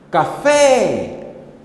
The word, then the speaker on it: café: cá ou fé novamente café café café é claramente é a sílaba fé que saiu com mais intensidade Então esta sílaba sublinhada